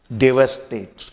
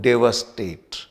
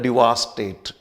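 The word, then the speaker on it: devastate: आइए अगला शब्द देखते हैं, और अगला शब्द है डेवास्टेट। स्पेलिंग देखिए, DEVASTAT। प्रोनाउंसिएशन पे ध्यान दीजिए, इसे बोलेंगे हम लोग डेवास्टेट। कुछ लोग बोलते हैं डिवास्टेट, इट इज नॉट डिवास्टेट, इट इज डेवास्टेट, और ये वर्ब है।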